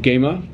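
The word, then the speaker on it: قيمر: We started off the morning with the traditional, it's not khaymah, it's called gema. I pronounced it wrong this morning.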